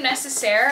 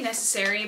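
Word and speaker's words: Nécessaire: Okay, this one's from Necessaire, I think is how you say it. I used to say Necessary, but I think it's Necessaire. They sent me the Body Acne Wash.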